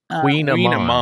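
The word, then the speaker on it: kouign-amann: Queen Amman. Queen Amman. It's spelled.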